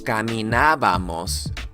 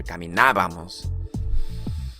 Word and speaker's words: caminábamos: In order for you to put the correct ending, you're gonna need to put that accent mark over this vowel right over here. Ábamos is how you pronounce that ending. So when you put it together, caminábamos.